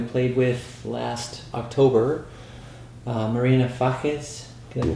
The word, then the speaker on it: Fages: He and Fernando Samalea and Argentinian singer-songwriter that we played with last October, Marina Fajes, can I pronounce that correct?